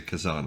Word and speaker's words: Kezan: us the Isle of I always don't know if this should be pronounced Kazan or kizen I'm going to say Kazan I like that better Kazan which is